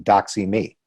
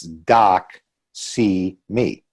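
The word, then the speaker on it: doxy.me: for a corporate platform doc see me I don't if you're familiar with that one a do X Y dot M E and if you think about it phonetically it's doc see me which I think it's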